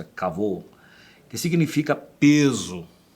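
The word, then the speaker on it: כבוד: que é alguns diz acabou mas é a pronúncia acabou que significa peso e nesse sentido litoral só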